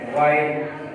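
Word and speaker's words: why: फिर silent H, ये rule number 1 है, जैसे वाई, डब्ल्यू के बाद जब एच आ जाए तो एच अपनी साउंड साइलेंट रखता है, वाई, वाट, यहाँ भी एच की साउंड अदा नहीं हो रही।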